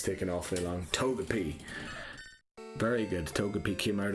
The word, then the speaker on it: Togepi: It probably is Togepi as well. It is Togepi, like a long E at the end.